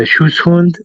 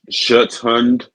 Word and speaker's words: Schutzhund: Schutzhund. Like shut the door. Yeah, like Schutzhund.